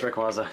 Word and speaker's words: Rayquaza: It's Rayquaza.